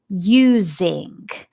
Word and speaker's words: using: Is it the S or the Z? It's the Z sound.